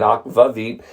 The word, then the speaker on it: Akvavit: If you go to Denmark and you get Akvavit, that's how they pronounce it, that's how they say it, Akvavit, that actually is caraway seeds and dill.